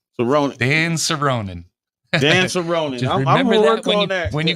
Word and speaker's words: Soronen: that's why I'm running and the name is pronounced cerin cerin Dan cerin Dan cerin remember when you go check that